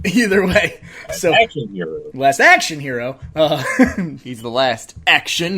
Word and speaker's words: Last Action Hero: just Last Action Hero I think the emphasis according to the poster the emphasis is on action Last Action Hero um either way so Action Hero Last Action Hero uh he's the Last